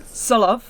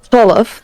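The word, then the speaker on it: Tsolov: So, how do you pronounce the name? Solov. Solov, there you go.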